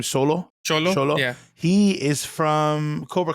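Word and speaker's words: Xolo: Cholo.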